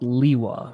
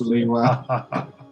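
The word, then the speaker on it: Lewa: is truly it's pronounced leewa right guys yes it's pronounced leeway we have it on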